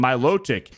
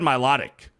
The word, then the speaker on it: Milotic: finally it's Kyogre and Milotic even Savvy got it right go hit the gym no Savvy Savvy did not pronounce Milotic right she said Milotic so anyway thank you